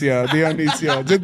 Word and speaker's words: Dionicio: Dionicio.